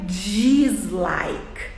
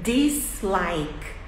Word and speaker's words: dislike: gosto eu falo dislike não é dislike é deslike Like This Like Good